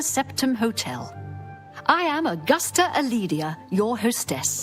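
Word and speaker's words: Calidia: I am Augusta Aledia, your hostess. Oh, you don't pronounce the C in your name?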